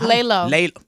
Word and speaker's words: LELO: Amber, how do I pronounce this? Lelo. Is it? Lay low.